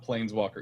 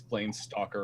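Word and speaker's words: Planestalker: I I mispronounced that it's not Plaines Walker it's plain stalker oh that's fine that's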